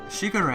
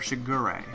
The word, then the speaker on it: Shigure: are pronounced the same way so I've been pronouncing this wrong since middle school so that's fun Shigure a is no longer Segura though that's a very easy one to slip